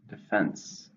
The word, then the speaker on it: defense: against something to noun two syllables stress in the second defense there was no defense